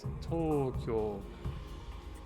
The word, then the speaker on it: Tokyo: It's actually spelt with that extended sort of "oh" sort of sound. It's actually Tokyo. But obviously, yeah. So it'd actually be written like Toukyoou, like that.